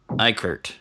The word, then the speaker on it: Eickert: From Academy Games, we have, and let's see if I still remember the pronunciation of it, Uwe and Gunter Eickert.